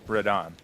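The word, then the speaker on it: Radahn: Radon, not Radigan. Rodon. Radigan is a different guy.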